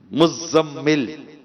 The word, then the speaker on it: مزمل: مزمل، زا پر بھی تشدید ہے، میم پر بھی تشدید ہے. اب جس کا نام مزمل ہے وہ خود بیچارہ اپنا نام نہیں لیتا، تو آپ کا نام ہے مزمل.